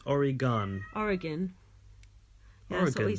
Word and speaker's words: Oregon: a country off all right pantic thanks for pronouncing Oregon correctly though people in in the US get it wrong constantly they say oron but it's I bet they say Oran well